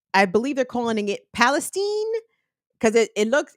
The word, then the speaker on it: Palestine: Because unlike where this train derailed in East, I believe they're calling it Palestine, because it's spelled exactly like Palestine, but I think, to sanitize it, they're calling it Palestine.